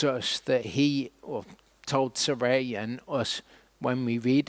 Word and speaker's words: Sarai: Sarai is how that is pronounced in Hebrew.